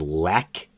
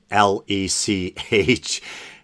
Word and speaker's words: Lech: name wrong the producer's last name is lek l-e-c-h and uh weinstein is pronouncing it lech and i think they're